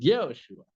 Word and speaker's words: Yehoshua: The Ben, which has three dots under, but two of them would take it to yeah, in order to pronounce it Yehoshua.